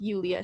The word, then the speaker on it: Julia: I just loved meeting people along the way, especially the best friend we made was someone, her name is also Julia, but it's pronounced Julia. She's Italian, German.